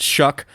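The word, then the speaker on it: Shough: I wasn't going to throw you under the bus, but the Oregon message board is like the line was, it's appropriate that Shuck rhymes with suck.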